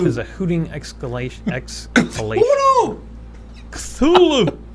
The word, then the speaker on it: Cthulhu: Lovecraft recommended that Cthulhu be pronounced Kuth, followed by Ulu. Ulu! There's a hooting exhalation. Ulu! Cthulhu! Cthulhu!